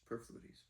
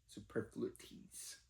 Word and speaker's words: superfluities: Superfluidities. Super. It's not superfluidities. That's definitely not right. That's how it's spelled. Superflules. Superfluities.